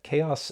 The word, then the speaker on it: Xaoc: by chaos devices and yes you do pronounce that chaos in english and house in cyrillic i really hope i'm